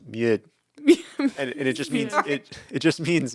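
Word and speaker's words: mjød: like a slash through it D and it's pronounced mud and and it just means it it just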